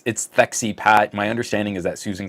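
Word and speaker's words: Wojcicki: She is a CEO, and I feel deserves the correct pronunciation of her last name. It's Thexy Pat.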